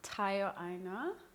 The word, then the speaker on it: Tayo Aina: It's your girl Jojo Lara and I'm here with my very good friend Tayo Aina. Right, did I pronounce it right?